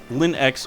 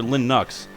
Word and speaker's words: Linux: "You can pronounce it Linux or Linux, but not whatever the hell you said.